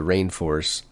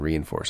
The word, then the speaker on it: Reinforce: I think it's Rainforce, Isaac, rather than Reinforce. I've been reading it Reinforce for years, but I'm pretty sure they pronounce it Rainforce. Wow. There's some older spellings of Rainforce that spell it Reineforce. And I think that's a better spelling. Let you know that it's Rainforce and not Reinforce.